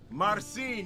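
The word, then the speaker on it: Marcin: Mar Marine m a r c i n Marine yeah no that's what they is the best pronunciation marine marine yeah so no so I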